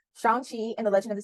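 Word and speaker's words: Shang-Chi: season one Shang sh oh let me not pronounce that wrong Shan Chi and the legend of the T runes eternals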